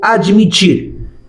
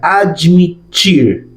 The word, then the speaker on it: admitir: Próximo verbo, o verbo admitir. Significa lo mismo que en español, pero mira cómo se pronuncia. Admitir.